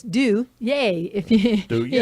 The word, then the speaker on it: Duje: right now, and it's Duje. If you Duje. and it's spelled D-U-J-E, which looks like Duge or like the John Wayne Yeah, Duke I've been or called worse.